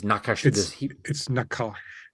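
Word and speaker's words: נחש: butchering the pronunciation, this nakash. It's nakash. It's more in the back of the throat towards the end.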